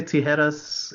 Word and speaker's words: Tijeras: I was gonna say tijeras is like the Spanish word for scissors. Thank you, James. How do you pronounce it?